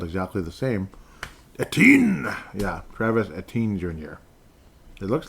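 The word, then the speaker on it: Etienne: At least that's a guy at works pronounces his name because it's spelled exactly the same. Eten.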